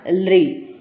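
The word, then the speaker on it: ऌ: इसको बोलेंगे हम दीर्घ रि और ये है लृ। क्या उच्चारण होगा इसका? लृ।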